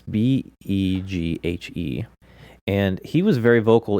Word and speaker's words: Beghe: Yeah, this other guy, Jason, and I can't pronounce his last Beagle. name. It's Beghe, and he was very vocal in the documentary Going Clear, and I've seen him in several different movies.